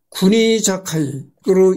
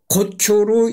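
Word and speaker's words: 国境: 국경으로만 읽을 수 있는 한국에서는 딱히 논란거리가 아니지만 일본에서는 이 국경을 어떻게 발음하느냐에 관련한 논란이 있다. 구니자카이로 읽는다. 구니자카이로 읽는가 고쿄로 읽는가 하는 문제다.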